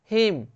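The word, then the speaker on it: hymn: हिम, हिम में भी N silent है, हिम मतलब होता है भजन संध्या।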